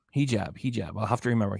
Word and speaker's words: hijab: he wait a minute I still don't know if I'm saying it right hijab okay oh so you're telling me it's he he jab hijab hijab I'll have to